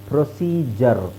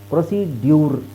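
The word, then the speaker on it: procedure: ಅದನ್ನ ಜರ್ ಅಂತ ಹೇಳಿ ಪ್ರೊಸೀಜರ್ ಪ್ರೊಸೀಡಯೂರ್ ಅಲ್ಲ ಪ್ರೊಸೀಜರ್ ಪ್ರೊಸೀಜರ್ okay ಪ್ರೊಸೀಜರ್ ಸೋ ವಿಚಿತ್ರ ಅಂತ ಅನ್ಸುತ್ತೆ ನಿಮಗೆಡಿ ಯು ಇದೆ ಆದರೆ ಜ ಅಂತ ಹೇಳ್ತಾ ಇದೀವಿ ಪ್ರೊಸೀಜರ್ ಓಕೆ ಹಾಗೆ ಸ್ಕೆಜುಲ್ ಸ್ಕೆಜುಲ್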